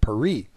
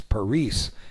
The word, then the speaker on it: Paris: we in America call the capital of France Paris but if you talk to a Frenchman his city is called perie and if you talk to somebody from an Hispanic Nation they're going to pronounce that uh city as parice and I'm not going